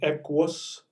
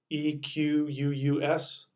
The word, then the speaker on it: Equus: with that play called Equus equ us Equus that's the Latin pronunciation of the word for horse it's the same word